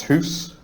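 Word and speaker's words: hūs: The top one is pronounced hoose, and the second one is dune, and then we have abutan, and at the bottom, ut.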